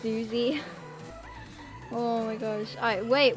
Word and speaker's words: Uzi: Okay, it's pronounced Uzi.